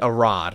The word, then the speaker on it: Arad: Avi Arad, not Arad. Avi Arad. Is that how you say it?